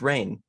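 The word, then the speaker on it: Rahne: sinclair who um basically oh it's rain it's rain rain nice it's spelt weirdly who transforms into the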